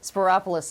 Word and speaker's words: Spyropoulos: Spyropoulos is easy. It is It rhymes easy. with Metropolis. And also my doctor's name was just Christopoulos.